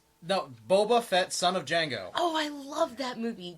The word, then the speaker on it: Django: No, Boba Fett, son of Django. Oh, I love that movie. Jamie Foxx was hilarious. No, it's a different Django. Different movie, different genre. And there's no D. Oh, I know. The D is silent.